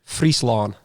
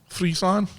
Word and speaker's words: Friesland: Friesland. Friesland.